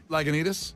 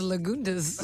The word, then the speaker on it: Lagunitas: Hop taste zero alcohol is that how you say that Lagunitas yeah that's how you say it is that the l-a-g-u and that one yeah well you say it slowly Lagunitas yeah I thought it was lagundas what was the point